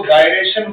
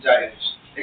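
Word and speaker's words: gyration: अब कुछ टीचर जो है इसको गायरेशन बोलते हैं, ठीक है, बट एक्चुअल इसका सही प्रोनाउंसिएशन जो है वो क्या है, जाइरेशन।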